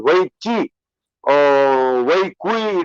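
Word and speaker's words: weiqi: But in the Chinese equivalent of chess, which is called Wei Qi or Wei Kui, it's written as but pronounced as Wei Qi, you have to surround the enemy.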